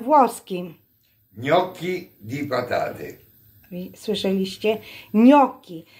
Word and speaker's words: gnocchi: Gnocchi di patate. Słyszeliście? Gnocchi. W Polsce jakoś inaczej czytacie, jak jesteście w restauracji włoskiej, a to się czyta gnocchi di patate, ale w restauracji pisze jako danie tylko gnocchi.